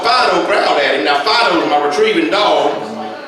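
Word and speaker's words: Phideaux: Now, Fido's my retrieving dog. You spell that P-H-I-D-E-A-U-X, Fido, see?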